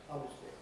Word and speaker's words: obviously: the fact that is no longer pronounced obviously before so but i would say obviously in fact that goes through a huge number of reductions with very large numbers of people so keep that one to three syllables obviously honestly uh usually